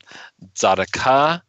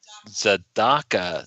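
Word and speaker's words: Tzedakah: The emphasis is on the dalet, so it's Zadaka, not Zadaka. It's Zadaka.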